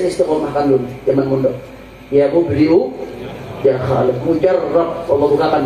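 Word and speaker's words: مُبْدِئُ: Baca ya mubdi'u ya khaliq. Ya mubdi'u ya khaliq, pakai hamzah. Mubdi bukan pakai ain, pakai hamzah.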